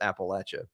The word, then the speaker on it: Appalachia: If you're from Appalachia, you know that you live in Appalachia and it's pronounced Appalachia.